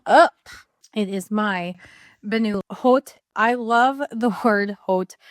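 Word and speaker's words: haute: First one up, it is my ban hot. I love the word hot. Uh, in French it's because they don't pronounce the h, but it looks like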